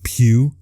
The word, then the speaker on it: Pugh: The correct way to pronounce Linda Huffman Pugh instead of Puff, I think I called her.